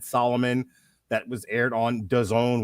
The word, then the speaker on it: DAZN: That was aired on DAZN, which rhymes with calzone.